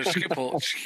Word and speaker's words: Schiphol: We got into Schiphol.